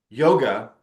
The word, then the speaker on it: yoga: that I refer to yoga as yoga in the first third of the book and after the glosser turn when I descri when I describe that yog is the actual pronunciation it's correct spelling the